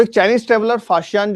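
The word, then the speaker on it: Faxian: अभी तक इसको हम फाहियान पढ़ते थे। लेकिन इसकी स्पेलिंग जो है वह इस बार एनसीआरटी में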